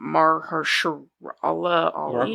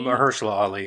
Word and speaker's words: Mahershala Ali: Mahershala Ali. Mahershala Ali.